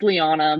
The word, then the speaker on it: Leana: and it's they're like What's your name Leah no it's it's Liana but that's that's how